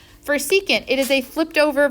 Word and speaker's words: secant: cosecant secant and cotangent that is how you pronounce them even when they're shortened so don't say for this that is cosecant don't say SEC this is secant it has a name